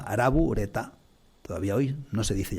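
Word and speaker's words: ラブレター: la palabra inglesa y lo pronuncian a la japonesa ara bureta todavía hoy no se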